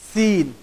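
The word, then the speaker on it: سين: এই হরফটার উচ্চারণ হয় যা হরফটার উচ্চারণ যে জায়গা থেকে হয়, সিন হরফটার উচ্চারণ একই জায়গা থেকে হয়। জিহ্বার আগা সামনের নিচের দুই দাঁতের গোড়ার সাথে সম্পৃক্ত হয়ে এই হরফটির উচ্চারণ হবে।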